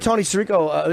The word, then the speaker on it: Tony Sirico: I heard Tony Sirico.